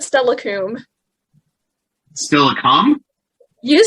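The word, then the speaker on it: Steilacoom: still a ah yes it's still a coke there we go that's what he said right you said stella coomb still a calm you said stella comes and it's silicon it's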